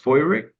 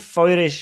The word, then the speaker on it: Feurich: Or it's pronounced Feurich, or I think Feurich in German or something.